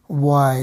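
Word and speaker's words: why: দেখতে পাচ্ছি এখানে হোয়াই হোয়াই মানে হচ্ছে কেন অর্থাৎ কেন এটার ইংরেজি হচ্ছে ওয়াই হ্যাঁ আমরা কিন্তু হোয়াই বলি আসলে হ বলা যাবে না হোয়াট হোয়াই এরকম বলা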